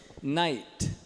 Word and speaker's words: knight: Night. Night. É igual noite. A pronúncia é igual. Só que night é só tirar o K.